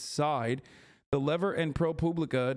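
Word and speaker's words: Seid: pronounce his last name people who've dealt with him say it's side the lever and pro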